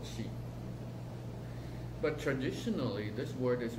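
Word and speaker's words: 气: They called actually, when it comes to energy, the pronunciation of energy in Chinese is called qi.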